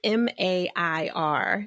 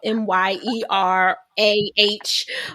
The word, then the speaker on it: Mair: of the show notes yet, it's Mair. I know her accent makes it sound like it's, Myerah, but it's the Brit Jamaican in her that's really sounding it out.